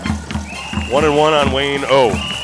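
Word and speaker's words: Ough: 1-1 on Wayne O. O is spelled O-U-G-H. O, Wayne O.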